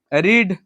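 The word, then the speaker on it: read: है ठीक है ना लेकिन उच्चारण अलग होता है रीड रेड रीड रीडिंग रीड्स हुआ ना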